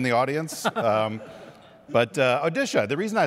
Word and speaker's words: Odisha: is the state of odisha not one that you normally hear about but what's the pronunciation now odisha odisha right we used to call it orisa when we were young so just to be